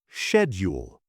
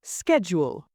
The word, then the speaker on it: schedule: In British English, schedule. In American English, schedule.